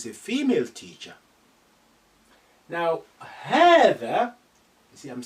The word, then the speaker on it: هذا: The same thing as هذا, you say هذا with lengthening, but you do not write it. You write it, you omit this alif. So هذا, don't say هذا. لا, you need to say that lengthening.